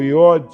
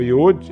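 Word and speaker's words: יוד: O que é o Iod? Que é apenas um apóstrofo, e que a gente corresponde ao Y, seria, no caso, Y, H, V ou W, H. Iod, ou Iud, alguns pronunciam Iud, Re, Vav, Re.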